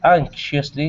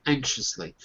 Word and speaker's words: anxiously: can say it softly anxiously if I say it quickly you don't hear the C if I say it